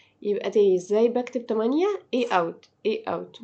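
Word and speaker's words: août: نتلخبطش فيهم اا يبقى ازاي بكتب مانيه اي اوت اي اوت بنطقها اوت يعني ايه اصلا ما بتتنطقش عندي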